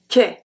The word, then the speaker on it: quai: So we don't pronounce the U, we don't pronounce the D, and AN makes the sound en. Quand, quand. Second one, un quai, un quai, quai.